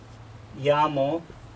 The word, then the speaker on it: llamo: different pin for you it's pronounced this way hola nay ya'mo so that's phonetically how it sounds hola me llamo and